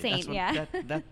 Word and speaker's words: S41NT: It's S41NT. It took me a long time to pronounce that as Saint.